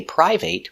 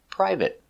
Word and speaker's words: private: it's private we see we don't say private we pronounce it private let's take a closer look at the pronunciation private P per Pur I pry V priv priv private private use a stop T not private private private